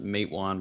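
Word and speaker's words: Matewan: did it it's uh it's written matawan but they pronounce it mate one because the river the closest creek is the mate creek uh good job they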